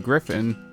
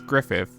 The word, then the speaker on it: Griffin: The bosses I feel like Hi, I'm interrupting this video because throughout editing this I realized I kept on mispronouncing Griffin as Griffith.